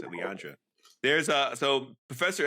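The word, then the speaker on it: Lilandra: I think that's pronounced it, Leandria.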